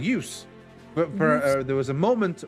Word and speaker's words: juice: But this has become the case where if you learn Swedish and you learn how Swedish words are supposed to be pronounced, you see the words Juise and you go, Juise? But no, it's supposed to be juice because it's an English word that has been transferred over.